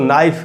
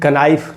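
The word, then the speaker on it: knife: उसके बाद दोस्तों नाइफ का मतलब है चाकू, इसको भी कनाइफ नहीं पढ़ा जा सकता। और नो का मतलब होता है जानना, यहाँ भी के साइलेंट है।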